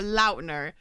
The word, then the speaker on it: Lautner: Speaking of Twilight, though, I did see this TikTok this week, and it was Taylor Lautner or Lautner is how it's actually apparently pronounced.